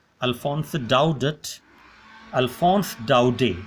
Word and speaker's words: Daudet: a doubt it Alphonse it doubt it Alphonse Doughty not doubt it Alphonse Alphonse Alphonse doubt is this is French pronunciation you have to be very very clear